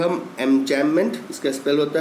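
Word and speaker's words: enjambment: तो this type of paragraphs are known as एमजैममेंट। बी is silent here.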